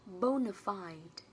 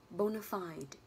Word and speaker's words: bona fide: trọng dương vào bo, bona fide. Đấy là cách đọc thứ nhất. Cách đọc thứ hai là bona fide. Ok. Và cách đọc thứ ba là bona fide, something like that. Nhưng mình sẽ đọc là bona fide cho nó dễ nhỉ.